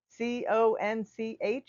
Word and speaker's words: conch: And just a tip: Conch is pronounced conch, like with a K.